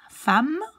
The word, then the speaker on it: femme: Femme. You pronounce this like an A. Femme.